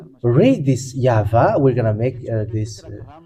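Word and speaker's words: יהוה: And if we combine this, Yod Vav, Yod Hey Vav Hey, it's obvious when we read this, Yah Va. That's it. This is the YAHVAH. We can see it now, YAHVAH.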